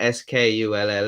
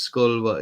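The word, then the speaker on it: Schull: name for a place it's not skull it's s-c-h-u-l-l pronounced school yeah it's a pretty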